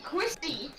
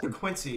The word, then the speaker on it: Quincy: Quissy. Hey, is that the Quissy tag shooter? No, he mispronounced Quincy. He's saying Quincy.